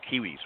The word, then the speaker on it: Quihuis: It is pronounced kiwis, right? Yeah, that's correct. It's just like the kiwi fruit with an S.